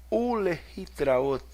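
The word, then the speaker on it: ולהתראות: E aqui eu gostaria de explicar para você que vai ter esse som de u por causa desse chiva, tá?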